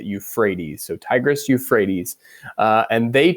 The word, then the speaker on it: Euphrates: that word it may not actually try to pronounce it that way but that is how you say euphrates so tigris euphrates and they together uh create